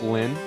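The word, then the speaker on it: Lynne: I've already seen it seen to it that target Miss Le uh Miss Lynn. I guess I'm assuming the the E at the end, you know, pronounces silent.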